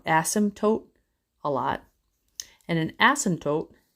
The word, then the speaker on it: asymptote: You've been seeing the word asymptote. I said it wrong. Asymptote a lot.